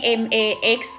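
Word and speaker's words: Max Factor: ค ะ Mac แ ต่ อั น นี้ MAX อ่ า น ว่ า Max Max Factor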